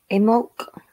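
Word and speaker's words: Imbolc: I'd like to start by talking about in bulk, however you would like to pronounce it. There are different spellings and different ways to pronounce it. Imolc, as I pronounce it, is a pagan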